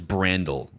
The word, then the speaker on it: Brandel: I think it's Brandel. Brandel. I think the emphasis is on the brand part.